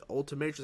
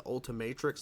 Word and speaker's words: Ultimatrix: and improved Omnitrix with it's not what it's called the ultimators I think it's pronounced the Ultimatrix let's play this again